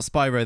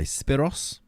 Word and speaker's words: Spyros: well by the way it's not Spyro the way you pronounce it no I imagine it's probably not no how would you say it then Manos um it was actually Spyros anyway Spiros maybe like that how much have